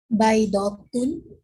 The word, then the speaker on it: بيضة: As you see, when we have haraka on the top of the ta marbuta, this ta, I will read it ta because it is ta.